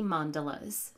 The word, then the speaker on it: mandala: The next stamp is the Many Mandalas stamp set, which is a fun, layering mandala - yes, rhymes with gondola - stamp set and it comes with this little acetate guide.